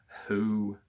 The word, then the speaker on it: Hu: What is stored in the eye of soul above the 5-step pyramid between Hu, divine authority, this Egyptian hieroglyphic name of God is pronounced with a breathy Hu, and Ak, submissive, united part of one's metaphysical being, are so devoted with Sart, wisdom.